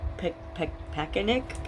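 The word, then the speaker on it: Pakanich: Her name's Tara Pakanik, P-A-K-A-N-I-C-H. And the C-H at the end sounds like a K, because I remember it from court, but I don't really remember how they pronounce the whole thing.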